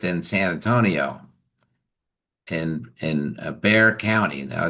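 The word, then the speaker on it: Bexar County: San Antonio in in Bear County. Now, it's B E X A R, but but they don't pronounce the X. It's just Bear County.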